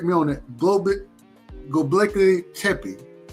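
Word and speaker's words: Göbekli Tepe: I ask you to correct me on that globic goley Tey right yep goley Tey that that that was one of the originals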